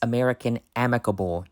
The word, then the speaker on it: American Amicable: It's American Amicable, you dumbasses.